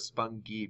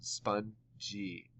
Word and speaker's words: spongy: I've never heard of Spong G before that doesn't make a word that I've recognized so I'm going to try it with this soft G sound spongy pronouncing it this way